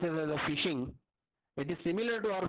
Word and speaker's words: phishing: Okay, actually the ph is pronounced as a phishing.